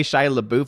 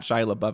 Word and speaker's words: Shia LaBeouf: I love the pronunciation. It's fun to say Shia LaBeouf and not Shia LaBeouf.